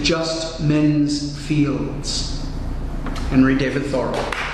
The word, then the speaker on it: Thoreau: Okay, I mentioned Henry David Thoreau, and that's how he pronounced his surname, Thoreau, although he was born and named David Henry Thoreau.